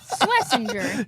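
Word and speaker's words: Schwesinger: Uh this kid's name Carson Swessinger. Nailed it. Nailed it. We had some names today, guys. Pronunciation or anything. Swissinger.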